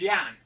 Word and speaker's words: Jan: to always call him Jam so we're probably four years right and then it came out but his name is actually pronounced Yan like why a n and I just couldn't